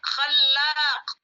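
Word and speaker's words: خلاق: Apa bedanya khalqi dengan khallaqu? Lihat ke sini. Khalqi itu dengan khallaqu. Khalqi, ini bacanya khalqi, ini bacanya khallaqu.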